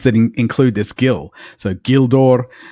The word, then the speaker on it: Gildor: So Gildor, Gilrain, Osgiliath, they all begin as in the English guild.